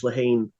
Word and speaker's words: Lehane: I am reading Moonlight Mile by Dennis Lehane, which that is the correct pronunciation, so you got to learn that in the next Dennis like 3 Lehane?